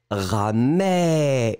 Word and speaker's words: ramé: It's ramé. Really, really open. Ramé. Mé, mé, mé, mé.